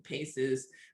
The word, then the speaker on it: PACEs: positive and compensatory experiences which are calling paces which of course nicely rhymes with aces and that you know